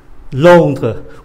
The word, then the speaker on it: Londres: Londres, où allez-vous?